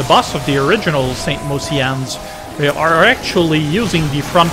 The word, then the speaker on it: Mociannes: But you know the thing about Mociannes is that I'm constantly mispronouncing it as Mocianne. That always seemed to make more sense as a name to me, but apparently it's Mociannes.